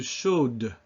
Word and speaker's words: chaude: lot of these words when you add a final E, which is not pronounced in itself, but then will cause the consonant before it to be pronounced when it wasn't before.